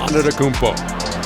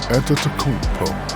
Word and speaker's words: Antetokounmpo: A tremendous game we're seeing from Giannis Antetokounmpo.